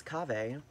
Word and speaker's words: kahve: Now, The Turkish had a different pronunciation of it, which is kahve.